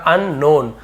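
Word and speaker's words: unknown: होता है देखिए लिखा अननोन अनजान यहां पे के साइलेंट है अननोन नहीं बोले अननोन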